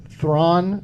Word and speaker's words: Thrawn: Thrawn rhymes with Zahn.